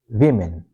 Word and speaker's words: women: of woman okay so both O and E give short short I sound. Okay. So we say V min. It's very unusual pronunciation. Okay. Most of the people confuse it. So we say women.